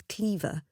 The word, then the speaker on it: Clairvoir: here at Cleaver Castle had Alice's great aunt not pronounced the name of the ancient lands as Cleaver Alice certainly would have said it wrong despite the estate name being originally from the French the early English inhabitants of the estate had corrupted the pronunciation hundreds of years before The Duchess lowered her